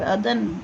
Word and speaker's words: अदन: Okay, तो वो कहते हैं अरुणावती जो ट्रिब्यूटरी है अदन रिवर, अदन, ओके, दो इट is written Aiden but in Hindi it is pronounce अदन river and इट इज़ इन the Maharashtra district में है वो।